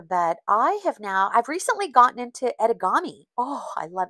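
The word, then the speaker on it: etegami: It is spelled E-T-E-G-A-M-I, edamame.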